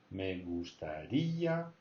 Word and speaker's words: gustaría: Me gustaría. So there's an accent. So you got to say me gustaría.